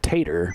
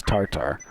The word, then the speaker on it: TATR: I thought it was Tater, but then I heard it was corrected as Tartar.